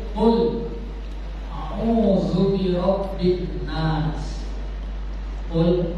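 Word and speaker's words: قُلْ: Qul, awas salam bacanya pakai qaf. Qul, naturokan. Qul, artinya katakanlah, lafazkanlah, ucapkanlah. Tapi kalau dia naik dikit jadi qul, nah itu pojok nomornya jadi kaful, artinya makanlah.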